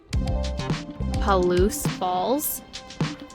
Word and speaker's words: Palouse: Palouse Falls.